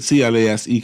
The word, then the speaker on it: Clase: And I guess Cleveland has its closer, Emmanuel Clase, C-L-A-S-E Clase, I pronounce.